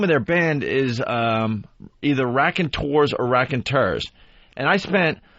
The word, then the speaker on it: Raconteurs: So the first mistake is they have the name of their band is either Raconteurs or Raconteurs.